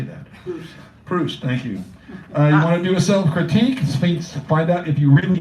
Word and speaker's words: Proust: Proust, thank you.